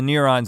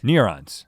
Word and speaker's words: neurons: - You're not even saying neurons right. - Neer-ons. - That's not how you say it. - Ner-ons. Nur-ons? - Neurons. - Neurons. Nur-ons, neer-ons? - Neer-ons is what you're saying. - Yeah, there's an E in it. I'm saying neer-ons.